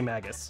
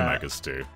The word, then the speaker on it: Magus: we're talking to uh i say magus same i say michael okay yeah magus doesn't